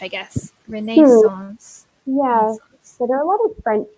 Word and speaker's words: Renaissance: yeah number four renascence we pronounce it a little bit like the French I guess Renee's loss yeah there are little